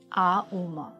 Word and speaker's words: ॐ: अपना मुंह बंद करें तो आम, ओके, आ उम। तो इसका क्या बहुत महत्व है। कॉन्सेप्ट आपने बताया, सही तरीका, मतलब ओम के प्रोनाउंसिएशन का, जैसे ओम ओम एक डिस्टॉर्शन है।